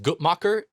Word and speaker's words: Guttmacher: But for one, there's a graph from the, I believe it's pronounced Guttmacher Institute, that shows that the U.S.